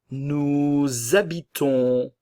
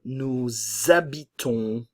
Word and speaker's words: nous habitons: Nous habitons, le S ne se prononce pas et nous avons la nasale on.